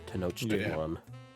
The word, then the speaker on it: Tenochtitlan: Like, you'd expect them to pronounce it like a K sound, but I remember looking it up, and it's pronounced as a ch sound. The Tenochtitlan.